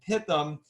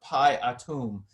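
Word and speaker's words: Pithom: actually PI Rameses and pit them is actually not hit them but PI item so that PI which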